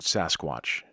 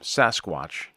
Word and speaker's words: sasquatch: of an indian word j.w burns coined the term sasquatch which is an anglicized version of the alkamelum pronunciation saskets burns who worked closely